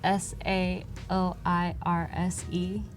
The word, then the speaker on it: Saoirse: a hard time because her name is spelled sa o ir SE and everyone's like what so she says my name is Saoirse rhymes with inertia she she says the